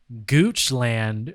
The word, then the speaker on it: Goochland: 74 living in goochland virginia my favorite part of the story spelled the way you think um that's l a